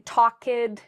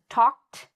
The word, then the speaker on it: talked: So, and notice I'm not saying talkid callid. That's what a lot of people who are learning English say, but the correct pronunciation is talked called.